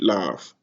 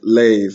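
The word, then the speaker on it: לב: That is how you say heart, lav. And I think it's even like lave, because this would be a seti instead of the shva, right? And there would be no kamatz.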